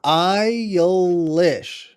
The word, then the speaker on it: Eilish: I mean, you can make Jesus Christ a 10-syllable word if you say it right. Cause like It's Eilish.